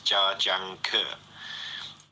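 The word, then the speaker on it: Zhangke: And then ZH is pronounced like a J. So it's janker.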